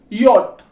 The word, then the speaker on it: J: ये देखो Z, English में जेड बोलते हैं, जर्मन में इसकी साउंड जो आती है वो आती है योट, ठीक है।